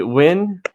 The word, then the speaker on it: Nguyen: Do you say Win? How do you say Win, yeah, Win? win.